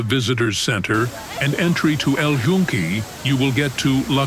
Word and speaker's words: El Yunque: El Yunque. El So the Yunque. Y is like more like a J.